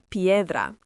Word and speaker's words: piedra: Asa s pedra pronounced p e dra